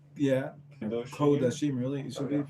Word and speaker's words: Kodashim: Kedoshim? Yeah. Kedoshim. Kodashim, really? It should be Okay.